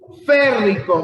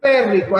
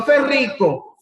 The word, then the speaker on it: férrico: Férrico, muy bien. Okay. Férrico, acento en la E. No ferrico, férrico, ¿verdad?